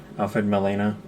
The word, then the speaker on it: Alfred Molina: Along with Alfred Molina. Am I saying his name right? Yeah. That's how you say it. Alfred Molina, aka Doc Ock.